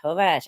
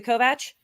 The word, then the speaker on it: Kovacs: it right as a Kovach um pronounce it the American way in Hungarian CS is CH I believe so it'd